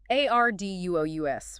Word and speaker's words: arduous: A-R-D-U-O-U-S, pronunciation. Stress on the first syllable. Arduous. Arduous.